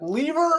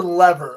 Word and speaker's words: Lever: It's spelled Lever. And you could say lever or lever. We say lever in the band, but if you say lever, we're not upset. We're not upset about it.